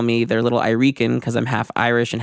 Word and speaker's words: Irican: podcast and said it's I Rican I know you guys are gonna ask me it's I Rican productions that's how you say it I Rican and then Alex was